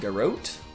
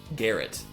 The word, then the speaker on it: garrote: Garrote. Garrett.